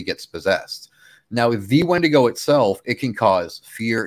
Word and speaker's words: wendigo: called one to go it's in the spelling Justin it's all in the spelling w-i-d-w-i-n-d-i-g-o wendigo okay that it's pronounced different you have when to go then you have wendigo wendigo is a name